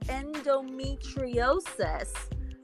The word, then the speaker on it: endometriosis: it's pronounced endometriosis because now the reason why I'm bringing this up again is because I forgot to mention this earlier.